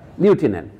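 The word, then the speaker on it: lieutenant: আমরা captain, লেফটেন্যান্ট general বলি না, এটা ফরাসিতে লেখা আছে, উচ্চারণে ইউটাকে অ্যাপ করে উচ্চারণ করি আমরা, লিউটেন্যান্ট।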